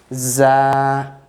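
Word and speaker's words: ز: Za, okay, with Z sound. Za, there will be kind of whistling sound.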